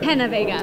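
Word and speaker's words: Peña: have some fun Alexa Pena I'm pronouncing that correctly right Pena that's what I said I know I know everybody thinks it's p all right so now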